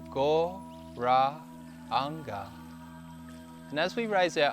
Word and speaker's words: Gauranga: In 4 parts, 4 syllables, Gauranga.